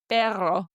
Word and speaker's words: perro: Perro. I'm still learning and sometimes I still feel like I'm goggling in my throat. But it's the blowing of the air.